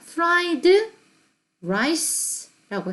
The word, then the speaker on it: fried rice: fried, 드가 발음이 들어가고 다음에 r이 곧장 나오죠. the rice. fried rice. 자, 여기서 혀가 붙으면 안 돼요. 맨 처음에 D 할 때는 혀가 붙었다가 천장에, 입천장에, rice 할 때는 슥 내려와서 아무랑도 붙지 말아야 되죠.